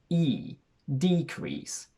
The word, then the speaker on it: decrease: decrease where we register a shift in stress to the front which in turn causes the first e to elongate so we say e decrease the meaning between the